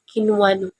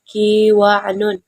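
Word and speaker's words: قنوان: wajib Kwan Kwan up membacanya qinwan tidak boleh dibaca kwanon sebab Nun wajib dihindarkan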